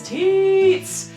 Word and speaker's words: Tietz: search Tietz, but my handle is Tietz! T-I-E-E-E-E-T-Z. And you have to pronounce it like that, or else you're saying it wrong.